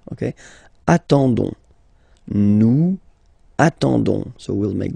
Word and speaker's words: attendons: ending for nous, so O-N-S, okay, you don't pronounce the S, so you get only this on sound, okay. Attendons, nous attendons, so we'll make the link between the two, la liaison.